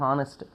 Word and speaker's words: honest: yan instead of y here our h is silent that is why we use here yan our hest hest and honest.